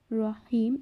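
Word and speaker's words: رحيم: রহিম, এখানে র এর উপর জবর আছে এবং র যেহেতু গোল করে পড়ার হরফ, তাই আমরা এটিকে গোল করে উচ্চারণ করব।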